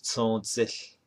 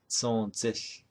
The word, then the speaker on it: Tsoodził: Now the mountain to the south, Mount Taylor, is Tsoodził. Tsoodził. That's how you say it in Navajo.